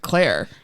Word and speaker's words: Clear: was like my God her name is actually clear but they just pronounce it Claire so they make a